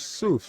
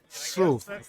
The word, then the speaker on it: Soof: It's not an easy tag to pronounce. We'll get it. We'll get Soof. Soof. See, no, we got it. We got it. We get that long U.